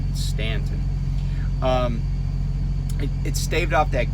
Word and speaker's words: Staunton: and by the way the u is silent and stanton it's not staunton stanton um it staved off